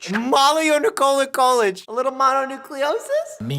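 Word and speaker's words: mononucleosis: Monucleiosis, not mono nicola yic.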